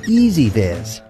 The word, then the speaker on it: EZVIZ: what is easy vis let's start with the name it's pronounced easy vis the name is important